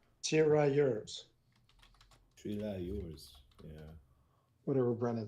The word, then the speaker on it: tirailleurs: With the trialie, or however you say it, they skedaddle, right? Tirailleurs. Yours. Yeah. Whatever Brennan said. And in French, you wouldn't pronounce the S, but in English you do.